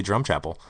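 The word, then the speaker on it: Drumchapel: Once again, people think it's funny how we say drum chapel.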